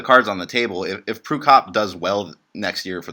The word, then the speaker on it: Prukop: How do you pronounce the last name? Prukop.